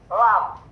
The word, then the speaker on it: lam: gigi nih, yaitu huruf lam. Huruf apa? Lam. Cara pengucapan huruf lam, ujung lidah kita yang dekat gigi ini menyentuh langit-langit langit-langit atas. Menyentuh langit-langit atas. Itu berada di di atasnya gusi itu.